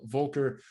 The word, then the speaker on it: Volker: Next up, we're going to move over to Volker. Is that the right way to say it, Volker?